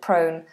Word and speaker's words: prone: have lots of accidents so that's the dong o prone prone accident prone and then the little um